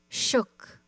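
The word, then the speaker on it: suk: Shook, a human being. A Fognak dialect, the S is pronounced sh. It sounds like shook, but with a shorter O.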